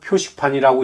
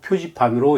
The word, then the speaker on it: 표지판: 이 글자는 도로 표식판이라고 읽으면 안 되고 도로 표지판으로 읽어야만 합니다.